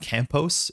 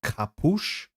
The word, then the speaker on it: Campos: Luana Campos, which has the Brazilian Portuguese at the end. So, it's not Campos, it's Capush. Capush, I think.